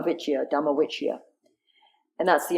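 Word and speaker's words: dhamma vicaya: States's dhamma which yeah my pronunciation is not great but it's v.i.c aya dama Vicki Adama which iya and that's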